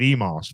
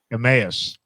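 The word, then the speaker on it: Emmaus: how do you say it I called it Emos but oh aass EMAs yeah in Slatington uh and now Elizabeth Town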